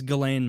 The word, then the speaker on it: Ghislaine: Can you pronounce Ghislaine Maxwell's name? I believe it's Ghislaine Maxwell. Ghislaine, yeah.